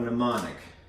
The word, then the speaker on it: mnemonic: Not via the acronym, but from a mnemonic. Please excuse my dear Aunt Sally. All right, these abbreviated, these words here are known as a mnemonic device. Mnemonic is weirdly spelled with an M, because English is confusing, right?